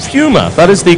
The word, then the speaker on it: Puma: It is pronounced Puma.